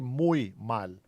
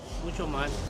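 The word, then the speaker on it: muy mal: We don't say much. We say mui mal. These guys didn't even correct his uh bad uh Spanish. Muchal. Mucho mal.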